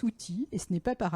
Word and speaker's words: UWTI: Alors, ça se lit UWTI, mais ça se prononce outil, et ce n'est pas